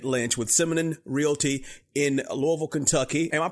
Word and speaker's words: Louisville: talking to David Lynch with Simon realy in Louisville Kentucky am I pronouncing it right David Louisville that is correct you got it I could